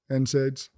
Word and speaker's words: NSAIDs: So you often warn people around about unnecessary surgeries, injections and NA how do you pronounce this? NSA aids. NSAIDs.